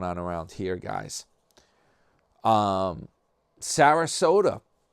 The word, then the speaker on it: Sarasota: Um, Sarasota rhymes with Yoda or toy Yoda.